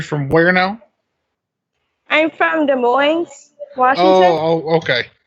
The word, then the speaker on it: Des Moines: where now I'm from Des Moines okay it's pronounced a Moines with my parents that's pronounced Des Moines originally yeah so you don't